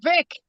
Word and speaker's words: Vix: Is it V in France or Vix? Oh, Vic. Yeah. Vic.